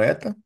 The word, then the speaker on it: eta: Esse nzinho aí, tá? Eh, pronunciado como ETA e vem do alfabeto grego.